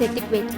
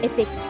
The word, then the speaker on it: ethics: And by the way, you pronounce ethics as etiquette. That is not etiquette. That is ethics. Learn to pronounce it properly and then advise others.